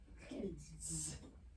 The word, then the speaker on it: kids: Kids. Oh, did you hear that? Because D is a voiced consonant. So the S is voiced.